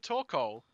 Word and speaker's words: Torkoal: Yeah, Torkoal and Torkoal. I never heard anyone pronounce it as Torkoal. Torkoal. Like snorkel. Well, some people just kind of blend the O-A-L sound into one thing.